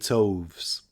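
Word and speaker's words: toves: how to pronounce slyy toes the i in slyy is long as in R and Toes is pronounced so as to rhyme with Groves again the first o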